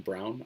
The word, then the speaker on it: Braun: on Twitter at Brown art my last name is brown but it's spelled the German way BR aun so if you prefer